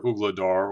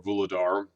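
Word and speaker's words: Vuhledar: know surround and capture ugladar or vuladar um like the Russians call it ugladar or it's spelled ugladar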